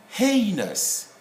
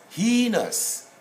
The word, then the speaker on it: heinous: dictionary edition number eight they will read this word as being heinous heinous but if you go to the cambridge dictionary this word is pronounced as heinous heinous crime there they will say heinous crime well we just have